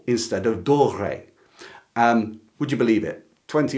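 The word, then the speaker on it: Doré: One mistake I make in this video all the way through is I keep mispronouncing an illustrator's name as Dor instead of Dore.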